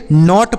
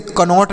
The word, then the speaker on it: knot: आगे देखिए KNOT तो इन दोनों को क्या पढ़ेंगे, KNOT इसे नॉट पढ़ेंगे, इसे कनॉट नहीं नॉट पढ़ा जाएगा।